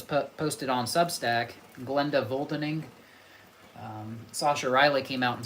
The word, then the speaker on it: Sascha: It's spelled Sascha, Sasha.